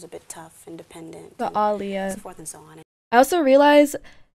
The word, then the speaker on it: Aaliyah: bit tough independent but alia was on I also realized she pronounces her name as alia not alia because there's two A's in it so I feel I